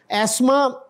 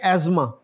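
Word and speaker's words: asthma: आगे जो है यह इसमें टी एच साइलेंट है तो क्या बन जाएगा फिर यह एस्मा ब्रिटिश इंग्लिश में एस्मा बोलते हैं इसको और अमेरिकन में एजमा दमा दमे का जो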